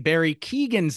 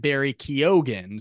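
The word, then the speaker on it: Barry Keoghan: who told me that we were pronouncing Barry Keegan's name wrong it is in fact Barry kogan so I hope I am saying that correct now if not he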